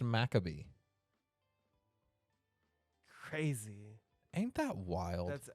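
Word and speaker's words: Maccabee: I cannot that so maob maab mabar it's pronounced makabe crazy ain't that wild that's absolutely wild it's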